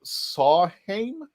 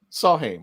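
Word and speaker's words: Samhain: saw when it's oh he's pronouncing that the m is a w in celtic so sawheim saw him i think that i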